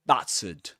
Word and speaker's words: battered: The first syllable, the vowel sound in the first syllable, is the same as in cats. Battered. And the ending here is a schwa. That is to say, we say battered. We don't say battered, but battered. Very good.